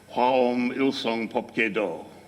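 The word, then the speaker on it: 화엄일승법계도: The title of this text, which you see on the screen, in Korean pronunciation of the Chinese characters, is Hwaom Ilsong Popke Do, right?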